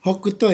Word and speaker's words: 北東: Hokuto ya, bukan Tohoku terbalik.